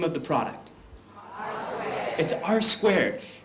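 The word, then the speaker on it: R²: name of the product r squared it is not R2 it and I I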